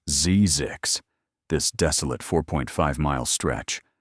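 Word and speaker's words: Zzyzx: ZX road, pronounced ZZix.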